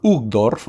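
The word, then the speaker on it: Uchtdorf: espirituales me refiero el apóstol hug dorf así se pronuncia eh es el primer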